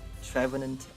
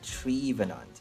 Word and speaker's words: Trevenant: i called it craymorant and trevenant feminine trevenant i call it trivenant because it's a tree so i like to